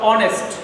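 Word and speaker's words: honest: এটা কি, এটা হবে অনেস্ট, যদিও এই প্রথমে এইচ আছে, হ আছে, হওয়ার কথা, কিন্তু হ হবে না, কনসোনেন্ট আছে, কনসোনেন্টের মতো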